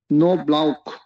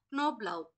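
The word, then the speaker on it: Knoblauch: Deer, deer, cock, rock, আক, knock, in, deer, নাকড, নাক, নো ব্লাউক। ক্নবলাউক, ক্নব, কে উচ্চারণটা হবে?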